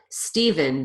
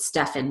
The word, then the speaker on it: Stephen: the way it's spelled Stephen the pH turns into a V unless the person pronounces it Stefan but we will talk